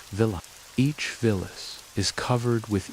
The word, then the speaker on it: villi: The inside of the small intestine is lined with tiny finger-like structures called villi, pronounced villa.